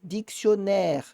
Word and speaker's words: dictionnaire: Então, aqui eu vou ter dictionnaire, dictionnaire, né? Não é um O, é um O. É um O um pouquinho mais aberto, graças aos dois N's.